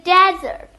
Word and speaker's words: desert: Did you say dessert or did you say desert? The spelling is similar but the meaning is different. In desert we stress the first syllable and in dessert we stress the last syllable.